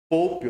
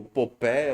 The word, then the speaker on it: Popé: a reserva com um homem chamado Pope, ou Popé, ou Poupé, depende também do livro que você vai pegar, ou de como você queira pronunciar, porque é em inglês, então.